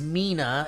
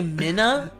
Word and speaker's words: Mina: dear mike and steve my name is mina it's pronounced like tina but with an m anyways don't say my name did you think i was going to say minna oh yeah mina mina's